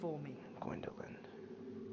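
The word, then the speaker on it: Gwyndolin: voice of my swindin gindin that's how you pronounce it gindin all right Neil right I ain't kneeling to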